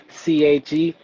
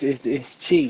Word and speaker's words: Chi: just went with the CHE Chi, because most people are mispronounce it. They think it's Che, like Che Guevara or something. And shout out to my Cuban affiliates, but it's Chi. It's straight Chi.